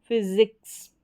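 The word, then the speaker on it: physics: आ रहा है तो हम एस को ज पढ़ेंगे इसलिए यहां पर ज पढ़ा गया है एस को फिजिक्स क्या हो गया फिजिक्स फिर है जी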